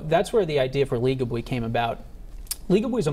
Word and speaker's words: Legably: your company is called Legably. Am I saying it right? Legably. That's right.